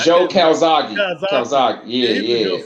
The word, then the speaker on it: Calzaghe: But nah, Joe Kazaki was, how you pronounce his fucking last name? Joe Calzaghe.